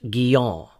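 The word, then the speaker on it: Guyon: of John Bunyan and Madame Gyo properly pronounced giel I was encouraged by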